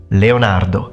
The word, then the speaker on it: Leonardo: of the four Leonardo yes repeat after me Leonardo Leonardo thank you gra now I think most of